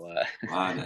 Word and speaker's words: Rade: depends where we are. Raid in the US, but Rade would be the technical Rade. Dutch pronunciation.